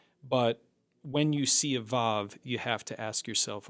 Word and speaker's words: vav: And vav in the modern Israeli pronunciation is a v like in the word victory. In ancient times, it would have been a W.